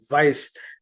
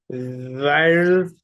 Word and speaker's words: Vires: And yes, that's the same Pel Templar from Templars and Vires. Vires, or the correct Latin pronunciation is Vires, but Thank you a for lot of people correcting used to me.